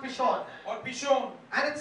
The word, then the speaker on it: Pishon: और पहले धारा का नाम पिशोन है, It's pronounced Pishon.